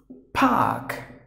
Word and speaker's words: Park: have to pronounce it but if the letter R is followed by a continent you have to silence it like Park silence means completely silence